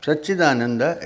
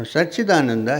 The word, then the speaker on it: Satchidananda: Now Satchidananda has three syllables. What is the first syllable? Sat. What is the next syllable? Chit. And the third?